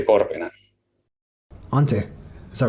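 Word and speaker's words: Antti: you say the name of your Lyricist again Auntie cor Auntie is that right a yes so finish names are hard sorry uh pronunciation so different huh oh would you mind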